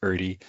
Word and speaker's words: Erde: I also know that my family for whatever reason a few Generations ago started pronouncing it as Erie and I'm pretty sure that's not how uh the original pronunciation uh should be so apologies for that